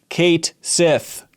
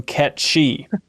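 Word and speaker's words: Cait Sith: from Final Fantasy 7 Kate Sith is pronounced Kate Sith and not the Scottish gelic pronunciation Ki I'm a bit disappointed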